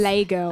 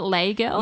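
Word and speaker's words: Les Girls: Lay Girls. I was going to say, was it Lay Girls? Yeah, because I'm pretty sure the S is silent because it's like French. French, yeah. It's French.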